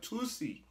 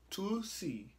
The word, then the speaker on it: Toosii: We got Tusi. Tusi. I believe that's how you pronounce his name.